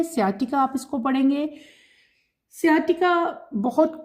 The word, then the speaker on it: sciatica: एस ये जो एस सी है सी यहां पे साइलेंट है। सियाटिका आप इसको पढ़ेंगे।